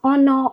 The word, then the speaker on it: honor: Do not forget the letter H in hour is silent. Okay, same as honor, honest.